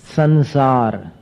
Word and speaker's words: संसार: फिर संसार, संसार में कैसा उच्चारण हो गया? अनुस्वार का न जैसा हो गया।